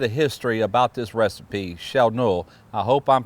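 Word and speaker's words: Tjälknöl: It doesn't sound nothing like the way it's spelled because it starts with a T. But Tja lkno, that's what Filip told me it would sound like in American language.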